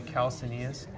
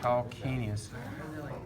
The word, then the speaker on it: calcaneus: of spelled weird and some people want to say kal Sidious but it's a hard C sound calcaneus if you get biggest